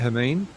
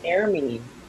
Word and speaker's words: Hermine: So, Hermine, how do you say your name? Is that the correct way I'm saying it, Hermine? No, it's Ermin.